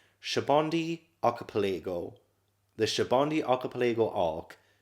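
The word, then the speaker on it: Sabaody: Because I was saying Sabodi Archipelago, but I think it's Shabondi Archipelago. I think that's actually how it's pronounced, I think.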